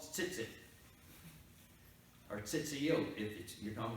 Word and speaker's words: tzitzit: Now, those tassels are called tzitzit, or tzitziot, if you're talking about plural, if it's tassels. It's spelled T-Z-I-T-Z-I, tzitzit.